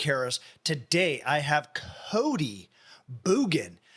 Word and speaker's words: Bjugan: I have Cody boogin I actually pronounced his name wrong on the actual episode I've always pronounced it as the I don't know maybe that's the French or the the Louisiana way of pronouncing it I'm not even from